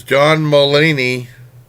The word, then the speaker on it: Mulaney: This one is John Mulaney, that's how you pronounce his name, hosting Saturday Night Live.